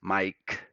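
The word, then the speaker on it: Maic: My name is spelled M-A-I-C and sounds as Mike and just .com, right?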